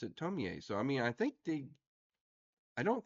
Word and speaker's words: Tomie: think they pronounced it Tomie. So I mean, I don't think the English pronunciation is really kind of rock solid on that. I think they keep changing their mind.